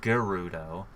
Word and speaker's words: Gerudo: kuru though and I know it's actually officially pronounced Gerudo but I pronounce it Gerudo so see ya and this is actually this